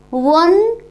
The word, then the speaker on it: one: And here in next sentence one is pronounced as consonant sound, so before the one we have used here article A.